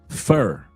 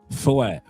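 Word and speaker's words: feu: Like I say, it's Vulcan, Vulcan, fur, foie. No, not foie. Foie? No, not Vulcan, foie. It's fur. You pronounce it in French, fur, F-E-U, fur.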